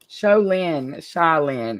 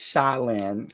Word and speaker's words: Shaolin: Sholin. It's Shaolin. That's how they say it in Katie's, Shaolin.